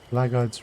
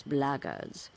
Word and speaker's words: blackguard: Okay, don't seem to be blackguards running around. If you're another one of those blackguards, and that's the way to pronounce it, not blackguards like that thug insisted it was, then my answer is the same.